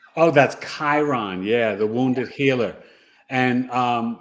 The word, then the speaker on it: Chiron: And Evelyn said, the only thing I have in Aquarius is that word I can't pronounce. Chiron. Oh, that's Chiron.